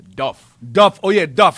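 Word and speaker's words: Dubh: Dub also is pronounced with a V or F. Duff.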